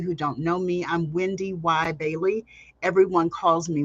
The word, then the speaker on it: WendyY: those of you who don't know me I'm Wendy y Bailey everyone calls me Wendy y uh yes you do pronounce the second why and I'm a 20